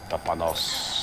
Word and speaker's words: Panos: I know it rhymes with a name of something. Like Dr. Thanos. Panos.